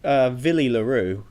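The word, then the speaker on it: Willie le Roux: So yeah, because Villy LaRue, as it's pronounced, I think he was a 15 fullback kind of character, wasn't he?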